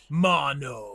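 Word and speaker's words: Maono: Mono, but it's spelled M A O N O. It's kind of weird, but um yeah, just let us know because I know that it sounds different.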